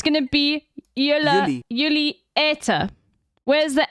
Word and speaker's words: eten: I mean, I know I'm arguing with actual Dutch people, but like, look, it's gonna be jullie, jullie eten. Where's the N? Eten.